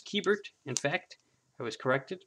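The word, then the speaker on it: Keibert: here's a keyboard ruiz i thought it was kybert but it is keybert in fact it was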